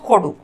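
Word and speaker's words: ಕೊಡು: जब बोलने के विकल्प के रूप में 'give it' का उच्चारण ' khodu', 'give it khodu' और 'please give' का उच्चारण 'khodi' या 'khodri' होता है।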